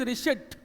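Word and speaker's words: receipt: नो, इट इज रिसिप्ट। इसमें पी जो होता है वो साइलेंट होता है।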